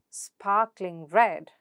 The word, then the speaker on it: sparkling red: In compound adjectives, the stress is placed on the second word. For example, rock solid, rock solid, sparkling red, sparkling red.